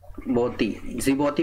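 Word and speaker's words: Djibouti: तो जिबौती के, जिबौती पढ़ा जाता है इसको, डी इसमें साइलेंट रहता है।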